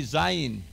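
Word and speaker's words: זין: Say with me, zayin. Zayin is a z sound, z, z, like in Zorro, Zorro.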